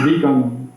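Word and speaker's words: Viganò: The truth of today is that it is the devil and Archbishop Vigano, or Vigano, if you want to pronounce it correctly in the Italian.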